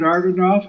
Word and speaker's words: Agranoff: Yeah, you put the R before the G, which a lot of people do, but it's Agranoff, not.